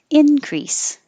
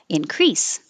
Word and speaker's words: increase: to uh alone and this word can be a noun with stress on the first syllable increase or verb with stress on the second syllable increase and plural there's a